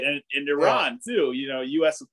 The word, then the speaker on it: Iran: it's going to be tough I think our Iran I keep saying it wrong it's Iran they um they they did not look very